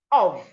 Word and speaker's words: of: Then we have OF, of. So the letter F here makes the sound V, not F. So you have of.